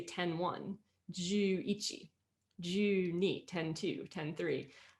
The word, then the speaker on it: ichi: of basic counting um ichi it's kind of easy to remember because it's like it's like itchy itchy yeah and then we have